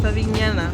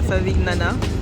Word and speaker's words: Favignana: Que j'ai la bonne prononciation maintenant, c'est Favignana, pas Favignana.